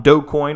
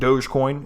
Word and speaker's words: Dogecoin: about last year um doe coin or as i've been informed dogecoin is the uh this is the correct pronunciation uh maybe you've heard